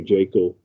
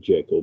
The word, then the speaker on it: Jekyll: Crowe was playing Henry Jekyll. Correct pronunciation, not of Jekyll, but Jekyll.